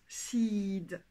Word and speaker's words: seed: Alors, d'ailleurs, seed ou semence, c'est un i long. Sickle, c'est un i court, la faucille.